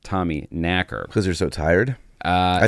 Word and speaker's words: Tommyknocker: actual Tommyknocker legend, which again turns out is pronounced Tommyknacker.